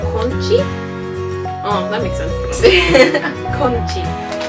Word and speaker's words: 콘치: They're called conchi? Oh, that makes sense. Conchi. That's the same thing in English except corn chi. Just don't pronounce the R.